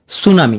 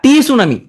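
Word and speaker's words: tsunami: যেসব শব্দে প্রথম অক্ষর উচ্চারিত হয় না, যেমন সুনামি, এখানে প্রথম অক্ষর টি, এটা উচ্চারিত হচ্ছে না, সুনামি, প্রথম টি উচ্চারণ হবে না।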